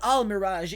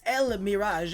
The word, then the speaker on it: El Mirage: By the way, the pronunciation is not Al Mirage, it's El Mirage, as if it was an as if there was an L, sorry, an E, kind of like the El Shaddai monsters.